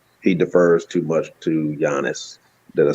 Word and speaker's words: Giannis: He defers too much to Giannis.